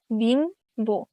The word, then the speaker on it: বিম্ব: ব অথবা ম এর সাথে যদি ব ফলা থাকে, তাহলে এর উচ্চারণ অবিকৃত উচ্চারণ হয়, যেমন বিম্ব, এখানে বিম্ব, এখানে বটা উচ্চারণ হচ্ছে।